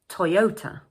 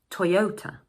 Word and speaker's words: Toyota: This is a 3-syllable word and the second syllable is stressed. So in English, we say Toyota, Toyota.